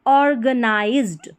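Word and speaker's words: organized: और और GA ग, नाई, नी नहीं पढ़ना है, नाई को नाई पढ़ना है, नी नहीं। नाइज्ड, नाइज्ड, ठीक है। Z को ज। तो ऑर्गेनाइज्ड, ऑर्गेनाइज्ड।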